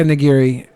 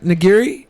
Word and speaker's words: nigiri: it's the gears and you're jf say Jessica nigiri it's a type of sushi right nigiri you go to get sashimi and nigiri that's the sushi yeah yeah yeah so I'd